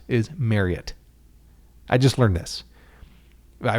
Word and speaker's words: Marriott: you're supposed to pronounce marriott is marriott i just learned this i read something that it's like harriet but marriott because of the family name anyway but uh it